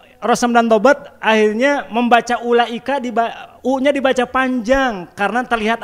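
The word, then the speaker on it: أولئك: itu ada waunya tapi menurut ilmu rasem wau yang ada pada ulaika tidak perlu diucapkan tertulis dalam mushaf tapi tidak perlu diucapkan maka bacanya ulaika bukan ula nah ini ilmu rasep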